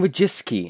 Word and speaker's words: Wojcicki: I'm actually going to learn how to pronounce their name Susan wojcicki as she pronounced it herself so there we go